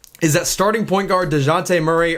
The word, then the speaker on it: Dejounte: that starting point guard DeJounte Murray, or the Spurs announcers were calling him Jonte. I thought it was DeJounte. It's spelled DeJounte, so I'm going to keep saying it like that.